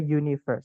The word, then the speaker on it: universe: gitu ya Nah itu kok kenapa pakai e padahal tulisan setelahnya u karena bacanya pakai y teman-teman jadi a Universe Jadi bukan tulisannya tapi